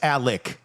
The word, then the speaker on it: Alex: Alec. Murdoch. I think it's a G. I think you're right. But it's Alec even though it's spelled Alex.